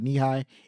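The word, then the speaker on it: Nehi: The major award that was based on a real lamp and illuminated knee-high logo. I think that's how you say it. Knee-high, N-E-H-I, knee-high.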